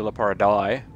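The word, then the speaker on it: Leporidae: play and then a number um and yeah la pariday which is the way that i pronounce it uh it's actually it's actually la para dai uh but it is the family name of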